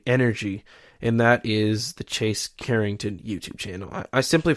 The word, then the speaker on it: Chase: hard enough to get people to spell and pronounce my name right, which it's Chase, Chase, just if you didn't know.